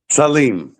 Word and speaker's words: Salim: This is an odd place to put this in the interview, but uh you pronounce your last name Salem or Salem? Saleem.